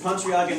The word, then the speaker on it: Pontryagin: pronounced it correctly and better than I pronounced your last name. Oh, sounds good. So it's this Pontryagin maximum principle that takes this idea of optimizing